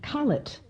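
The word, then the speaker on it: cullet: what's that called again in it it's called call it it's spelt c-u-double-l e-t yes that's right the professor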